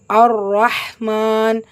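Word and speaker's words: الرَّحْمٰن: அர் ரஹ்மான் உச்சரிக்கும் முறை அலிஃப் ஃபத்ஹா, லாம்ல ஹரக்கத்தில், ஸோ உச்சரிக்க வேண்டாம், ஷம்சியாவுடைய சட்டம். ரால ஷத்தா இருக்கு, அழுத்தம் கொடுக்கணும், கூடவே ஃபத்ஹா இருக்கு, வல்லினப்படுத்தி ஓதணும். ஸோ அலிஃப் ஃபத்ஹா, ரா ஷத்தா.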